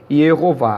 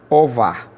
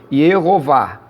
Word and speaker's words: Jeová: que se deu, infelizmente, a pronúncia de Jeová. Foi por conta disso. Ierová. Ierová. Porém, não existe a letra J no hebraico. Esse tracinho aqui representa o Y, uma consoante Y, ou um I.